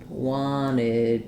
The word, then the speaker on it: wanted: When I have nt in the middle, often we native speakers of American English will drop that t. So they'll say this more like wanted you.